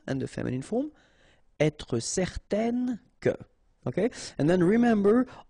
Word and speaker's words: certaine: Okay, if you add this at the end, then it will change the thing, and then you will pronounce it n. Okay, so the masculine form, certain, the feminine form, certaine.